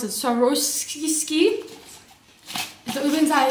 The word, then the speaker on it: Swarovski: How do you pronounce it? Swarovski.